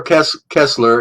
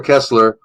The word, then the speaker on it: Koestler: Arthur Kessler, it's spelled Koestler, Arthur, Arthur, Arthur Kessler, The 13th Tribe.